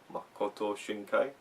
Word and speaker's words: Makoto Shinkai: Do you want to pronounce the name? Makoto Shinkai? Makoto Shinkai.